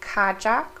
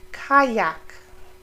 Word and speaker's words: Kajak: yeah foreign kayak so the J in the middle it's not kajak or kajak it sounds like a y kayak I hope you have an